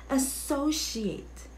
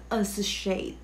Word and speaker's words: associate: just stay with me okay how do you pronounce this word it's associate associate associate hindi as a shade okay it's not a sushi it's associate all